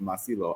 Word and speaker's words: Masilo: Um with Mas with Masilo Masilo, I I default to the Jacado um emphasizing the second to last syllable.